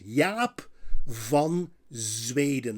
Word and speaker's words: Jaap van Zweden: In the Netherlands, we pronounce his name as Jaap van Zweden. Listen carefully. Jaap, mouth wide open. Jaap van, not van, van Zweden. Not Sweden, but Zweden.